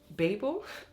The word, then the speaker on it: Babel: you say it quickly but if you have it like this it would be a long a so in my head